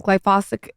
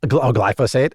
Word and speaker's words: glyphosate: Glyphosic. Glyphosate.